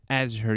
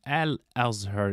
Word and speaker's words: Al-Azhar: different imamihab has three different bachelor degree from Azure Universe University Azhar University in fact the right pronunciation would be al-azhar University it says it's Egypt's oldest degree granted